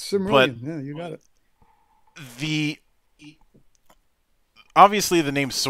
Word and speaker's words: Cimmerian: I know I screwed up pronunciation, but no, you got it exactly right. All right, it's Cimmerian.